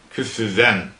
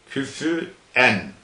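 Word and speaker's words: كفوا: Hafs'tan başka kıraatlarda küfüven, küfüen sonu hemze ile okunur. Yani küfüven, Hafs'tan başka kıraatlerde küfüen diye okunur. Sonu hemze ile okunur. Hemze, Yakup, efendim, Halefi Aşir de fa'nın sükuniyle okunur. Küfün, Hafs ise küfüven diye okur.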